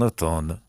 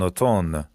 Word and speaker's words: automne: Les feuilles tombent des arbres en automne. automne بچه این امش تلفظ نمیشه.